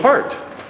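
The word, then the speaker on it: Pärt: I think uh or even part par I guess is the proper pronunciation of 20th Century composer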